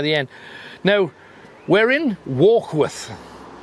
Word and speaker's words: Warkworth: end now we're in walk with or should i say to use the right pronunciation would work of order now why would we